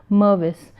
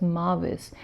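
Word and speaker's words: Mirvis: of corporate citizenship is Mervis with an I and Marvis & googans and I mistakenly spelled and pronounced the name as Marvis and that was my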